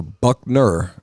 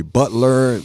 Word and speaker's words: Buckner: So please go to Buckner for sure. You better spell it.